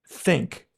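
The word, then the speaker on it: ThinQ: crime of a name, LG Think, but Think is spelled T H I N, capital Q.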